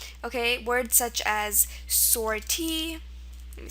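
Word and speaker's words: sortie: French so usually when we have words ending in the long e sound in French a lot of the time it's going to end in IE okay words such as sorty let me see spell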